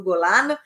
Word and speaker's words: Golan: As colinas de Golan, que falam em português, eu vou falar como se fala em hebraico, nas colinas do Golan, essas colinas que, na